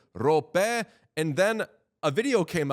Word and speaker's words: Roope: Then people started saying Rope, and then a video came out of him saying his own name. Roope Hintz. He just straight up said Rope was his name.